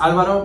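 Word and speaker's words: Álvaro: my name I am it's it's pronounced Alvaro but I have been white whitewashing that since I was born I I don't really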